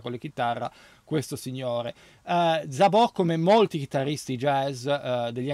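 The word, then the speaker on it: Szabó: meravigliosa chitarra acustica e anche elettrica di gavorza zobò che invece ho sempre chiamato Però in realtà sarebbe zabò perché c'è l'accento sulla o è un chitarrista veramente eccezionale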